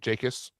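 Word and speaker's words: Jacas: Be careful how you say it. Jacus, if you call him Jack, you say a bad word.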